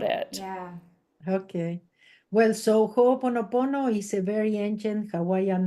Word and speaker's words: Ho'oponopono: Ho'oponopono. Okay, yes. Ho'oponopono. Honopono. Okay. It's got another syllable for us, right?